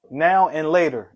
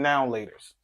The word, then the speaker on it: Now and Later: Four words we say wrong in Philly. Proper now and later. The candy. More words we say wrong in Philly. Proper now and later. The candy. Philly. We pronounce them noun lers. Yeah, it's just one word us. Noun lers. No space. Noun lers.